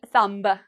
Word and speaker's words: thumb: Now, what do you notice in the spelling of this? You're going to notice a pattern here. We have M. So do we pronounce the B? No, we do not pronounce the B. So we don't say thumb. No, we say thumb.